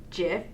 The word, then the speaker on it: GIF: GIF specification to be GIF, as in Jiffy, because it's a snap, quick thing. So Jiffy and a Jiffy, GIF. Oh, that's cute. So, I like that. The Oxford English Dictionary accepts both pronunciations.